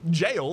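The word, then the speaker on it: gaol: media everyone did i i knew jail that spelt j-a-i-l right and they had to disabuse that of us in in school of like no actually it's spelled g-a-o-l which was an absolute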